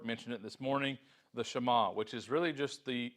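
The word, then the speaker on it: שְׁמַע: here is the word shama that's just how it's pronounced in Hebrew we see that here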